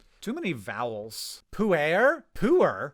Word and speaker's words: Pu'er: Pu'er is the closest English pronunciation I can think of for this.